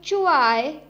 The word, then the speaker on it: zhuai: The next Pinyin is ZHUAI, has a pronunciation of chuai, chuai.